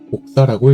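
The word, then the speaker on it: 輻射: 복사라는 것은 무엇의 사본을 만드는 복사가 아니고 한자로는 폭사라고 쓰고 복사라고 읽습니다.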